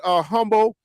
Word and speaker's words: Hummel: Just watch Wyatt Humble. Is that how you pronounce it? Humble or Hummel? White Hummel. Hummel, yeah. White is Hummel.